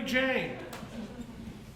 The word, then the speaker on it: Calamity Jane: Her name is Calamity Jane. That's Jan. No, it is not. You spelled it Jane. That spells Jane. You must be stupid. It's Jane. The E is silent. That means you pronounce it Jan.